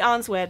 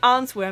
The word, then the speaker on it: answer: And this, my friends, I used to pronounce as answer, and like, she answered me. The answer machine. But forget about the W, people, it's just answer. No W, just answer.